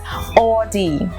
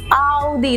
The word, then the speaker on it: Audi: was saying the pronounces or D which is not or D the it is the what is it it is all D like Saudi similar it'll make it to it Saudi it's all D ok so